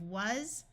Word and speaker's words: was: This S will use its second sound, so we have was.